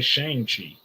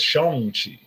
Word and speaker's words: Shang-Chi: He doesn't pronounce it like an American anymore. He doesn't say Shang-Chi. He says Shang-Chi.